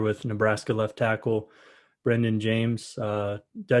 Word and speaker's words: Jaimes: Nebraska left tackle Brenden Jaimes. Did I say your name right, first of all? It's actually pronounced Jaimes, but Oh, I okay. get James a lot. Yeah, it's pronounced Jaimes.